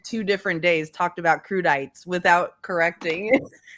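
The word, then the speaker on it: crudité: Is anyone going to tell her that it's not pronounced kredites? What is What was she trying to say? Crudite.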